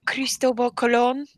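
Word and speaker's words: Cristóbal Colón: um Christopher Columbus when Cristobal Colon which is how you really say his name um when he came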